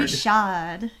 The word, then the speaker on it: Richard: Linda lets us know that Danielle pronounces her last name French, like Richard. Oh, Danielle Richard. Richard.